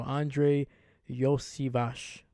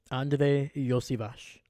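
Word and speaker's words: Andrei Iosivas: had to look up how do you pronounce it so Andre Yash so that's how you pronounce it y Vash also badass name Andre Yash here we go had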